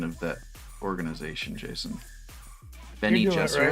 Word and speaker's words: Bene Gesserit: Bene Gesserit. Bene Gesserit. What's the proper pronunciation of that organization, Jason? Bene Gesserit?